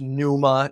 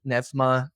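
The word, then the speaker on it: pneuma: spirit that we translate you probably know it's Numa in one one pronunciation Maybe nefma in modern Greek that's how we pronounce it and how we that's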